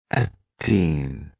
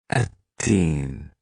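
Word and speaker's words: التين: It's pronounced in Arabic. Atteen. Atteen.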